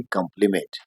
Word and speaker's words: compliment: और दूसरा लब्ज है सीओ एम पी एल आई एम ई एन टी इसे भी प्रोनाउंस करते हैं कंप्लीमेंट और इसको डिफाइन कैसे करते